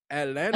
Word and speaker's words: Atlanta: Atlanta Uh, don't say the last syllable. Atlanta, they don't say the last syllable at all.